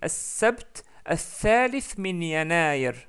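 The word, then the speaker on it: السبت الثالث من يناير: Normalement, si on devait prononcer correctement en arabe, on dit As-Sabt al-Thalith min Yanayr. As-Sabt al-Thalith min Yanayr.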